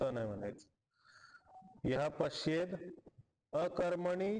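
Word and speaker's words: पश्येदकर्मणि: कर्म असं यह पश्येत पश्येत मध्ये त होता त ला द झाला अ पुढे असताना पश्येद अकर्मणी ठीक आहे पश्येद कर्मणी तर द दिसते तर दच म्हणायचं त नाही म्हणायचं यह पश्येद अकर्मणी च कर्मय द सोबत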